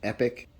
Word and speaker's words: Epoch: It's actually pronounced Epic, and the first thing you should know is that the Epic Compact is affordably priced.